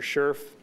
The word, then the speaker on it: Scherf: Staff, by about 9:14, had determined that offender Scherf, that's the pronunciation that I have at this point, it's S-C-H-E-R-F, that offender Scherf was not in his cell in the Washington State Reformatory.